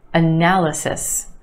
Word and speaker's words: analysis: choise in this word the first syllable and the third analysis a na analysis analysis do you hear